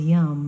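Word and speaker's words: Yam: prevents heart attacks and the sound is Yum it rhymes with the yum yum yum yum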